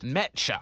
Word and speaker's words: Mecha: Yes, it is pronounced Mecha.